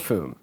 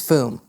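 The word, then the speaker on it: Fūm: by Fu fume fume no fume is pronounced no it's not foam it's fume we've gotten a lot of trouble a couple weeks ago because it has an ascot above it what's an ascot it's a little uh it's like a little sweater it's foom yeah well an um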